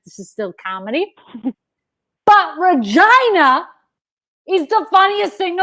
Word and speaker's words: Regina: my brother lives in regina saskatchewan they could pronounce it regina they easily everywhere else it's regina now you go to regina